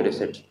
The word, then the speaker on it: receipt: तो रिसिप्ट का मतलब सिंपल, पी साइलेंट रहेगा।